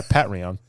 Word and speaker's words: Patreon: Yeah. Patreon. The way it's spelled.